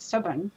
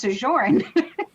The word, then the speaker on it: sojourn: lovely human but also pronounces wrong because he calls it stubborn but it's sajorn is is hard that's